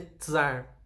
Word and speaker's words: Tsar: Se escreve Cesar, né? Acho que eu falei sobre isso na semana passada, mas se lê Tsar, tá?